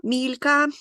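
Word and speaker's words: Milka: знають всі полюбляють шоколад Мілка Мілька м'якше вимовляється німецькою мовою і можливо не всі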